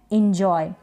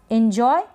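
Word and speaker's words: enjoy: क्या है इंजॉय एंजॉय यहां पर ई जो है इसको ई भी प्रोनाउंस कर सकते हैं और ए भी इस तरीके से दोनों ही प्रोनंसिएशन इसके किए जाते हैं दोनों तरीके से इनको प्रोनाउंस किया जाता है बोला जाता है पढ़ा जाता है तो आप दोनों देख लें एंजॉय या एंजॉय दोनों ही ठीक है एंजॉय जी ये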